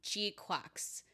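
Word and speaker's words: GQuuuuuuX: All right, moving on to Gundam Gquax. Yes, that's how it's pronounced if you haven't watched the anime yet, which is airing on Prime.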